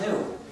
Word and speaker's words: gnu: countless word plays because according to the dictionary, the G is silent and it's pronounced new.